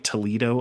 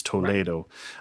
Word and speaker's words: Toledo: Um, not to it's spelled like Toledo, Ohio, but it's Toledo.